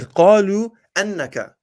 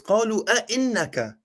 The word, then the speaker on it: قالوا أئنك: You said, let's see, you said, قالوا أنك. It's قالوا أئنك.